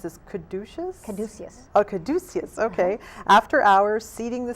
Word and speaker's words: Caduceus: I'm going to mispronounce this. Caduceus. Oh, Caduceus.